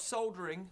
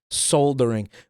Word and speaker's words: soldering: Soldering. We pronounce that word soldering for some reason. Like we we completely dropped the L through eBay and